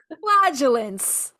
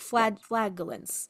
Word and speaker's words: flagellants: It's spelled with a G, y'all. Flagellance. FLAG, like flag, like flagellants.